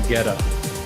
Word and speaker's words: Guetta: I think I was corrected about it within the last couple months. Were you? And that's how I landed on Guetta.